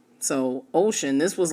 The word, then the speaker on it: 5tion: It's uh romanized as the number five and then the letters t i o n. But in the Korean language, five can be pronounced as O. So Ocean, this was like logical for me.